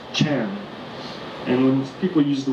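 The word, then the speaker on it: 禅: It was pronounced Chan.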